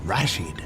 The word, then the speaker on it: Rashid: I emphasize the first syllable, Rashid.